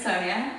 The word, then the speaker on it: Sonia: But if you call me Sony now, I'll hit you. Yeah, my name is Sonia. Don't get it wrong. I would appreciate it, and it's spelled with an I, not a Y.